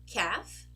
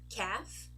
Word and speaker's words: calf: of the M okay another group of words where we do not actually pronounce the letter L are these ones calf half be half let's go again calf half be half as you can see what we pronounce is an e have be half right and thankfully we also